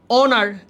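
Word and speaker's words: honour: অনার, এইচের উচ্চারণ নাই, এন অনার।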